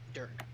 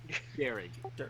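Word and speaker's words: Dearg: Don't worry, no one pronounces it right. It's Gaelic.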